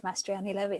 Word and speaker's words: Mastriani-Levi: You did, Mastriani-Levi, that's right.